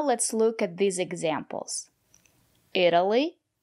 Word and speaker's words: Italy: look at these examples Italy Italian Italy the syllable after the letter T is not stressed or pronounce the letter t as a fast de Italy I've never been